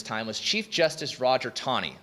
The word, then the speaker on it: Taney: was chief justice roger tawney it's pronounced tawny even though it's spelled taney he was the chief justice from 1836 chief justice john marshall's death until 1864.